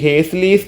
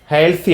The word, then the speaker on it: Halsey: ഹേൽസി ആണ്, ഹേസ്ലി അല്ല, ഹേൽസി. Okay, is American. FA ഹാൽസി എന്നാണ് ഇദ്ദേഹത്തിൻ്റെ പേര്, ഹേസ്ലി എന്നല്ല, അത് ഉച്ചാരണത്തിൽ വന്ന പിശകാണ്. ഹാൽസി.